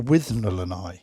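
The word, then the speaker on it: Withnail and I: the 1987 british comedy with nail and i or with nolani that's how they pronounce it in the film isn't it with another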